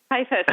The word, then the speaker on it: Kajfosz: That's how you say it? Kajfosz. I know. I had no idea. It's exactly like it's spelled.